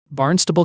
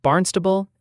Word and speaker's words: Barnstable: And quick note for the chat, it's pronounced Barnstable and Groton. Okay. Not Barnstable and Groton. That's wrong. Exactly. It's Barnstable, not Barnstable, and Groton, not Groton. You've got it now.